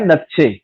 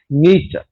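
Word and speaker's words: Nietzsche: त नीचे पढ़ंदासीं, पर पाण वटि मक़बूल आहे नक्शे, एक्चुअली जो प्रोनाउंसिएशन आहे उहा आहे फ्रीडरिक नीचे।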